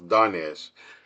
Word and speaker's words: Darnesh: I'm sorry, I don't want to mispronounce his name. It's Darnesh.